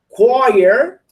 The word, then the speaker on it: choir: At 4 p.m., she may attend athletics, choir. How do you say el coro? Choir. Repeat choir. Choir. Very difficult to pronounce choir.